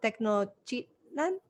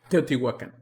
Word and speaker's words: Teotihuacan: You took me to the pyramids in I'm gonna say it wrong, Technochitlán? No, I got it wrong. Teotihuacan.